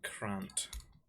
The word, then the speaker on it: Krant: It's called Krant. Rhymes with can't play on it.